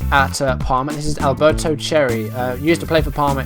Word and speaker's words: Cerri: it absolutely insane okay so Alberto cherry that's how you say his name he's on loan from